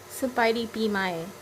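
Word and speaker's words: ສະບາຍດີປີໃໝ່: Sabaidi Bimai.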